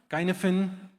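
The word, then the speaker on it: Cynefin: Kinaphen uh this is a Welsh word so it's K. It's pronounced as KY and it divides problems into five context.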